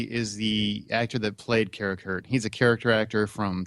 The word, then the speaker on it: Karakurt: No, it's Karakurt and a.k.a. Jonas Fleming. Michael Massey is the actor that played Karakurt.